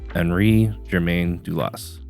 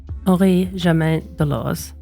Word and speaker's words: Henri-Germain Delauze: it was the personal watch, and excuse my pronunciation, of Henri-Germain Delauze. Henri-Germain Delauze.